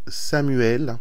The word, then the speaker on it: Chamuel: Et Chamuel ou Samuel aussi, on peut le prononcer comme ça, est un ange magnifique.